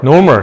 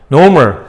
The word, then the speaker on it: normal: normal. 따라해보세요. normal. R이 발음이 되는 둥 마는 둥 해요.